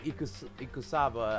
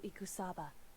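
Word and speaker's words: Ikusaba: out there's a 16th student it's called Maruko eCos cassava I think that's what it was anyway let's continue on Oh a smoker oh okay I said it wrong ekoo Sabah the 16th student lying hidden somewhere in this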